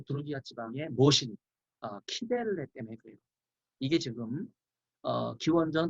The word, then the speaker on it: 키벨레: 여기 부르기와의 모신, 어머니신, 키벨레, 키벨레를 뭐 시벨레 이렇게 발음하는 분들이 있는데 키벨레로 발음을 하는 게 좋습니다.